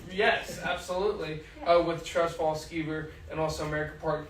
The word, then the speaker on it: Skeever: Right, that's how you pronounce it. Skeever, yeah.